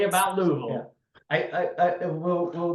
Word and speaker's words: Louisville: we come to how do you say it louville say say say it like you got golf balls in your mouth Louisville I can't Louisville Lille Louisville Louisville Louisville don't